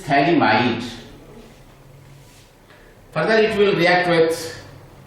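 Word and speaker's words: phthalimide: pH is silent here. It is thalamide.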